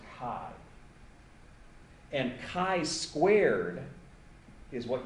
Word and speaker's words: chi: here and it's pronounced Kai usually people write Chi but it's pronounced Kai and Kai squared is